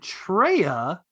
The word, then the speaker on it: Treya: and to further make my case, Xana rhymes with Anna, and Treya rhymes with Leia.